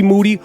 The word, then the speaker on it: Moody: podcasting I'm here with Moody whose last name rhymes with duty today on a brand